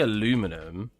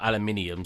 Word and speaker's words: aluminium: have one L around so it's actually aluminum or aluminium sorry I'm so used to Americans saying aluminum aluminium as the British say it yeah I mean pretty